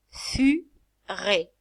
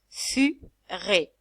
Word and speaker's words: furet: Furet. Le ET, c'est comme E. Furet.